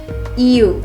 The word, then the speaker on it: you: You lo pronunciamos de esa manera. Esa Y no se pronuncia como lo hacemos comúnmente en español, sino que lo pronunciamos con una I y una U.